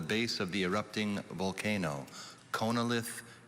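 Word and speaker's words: chonolith: you hi tessa hi your word is konalith can i please have all the information konalith also pronounced connilith is a noun this word was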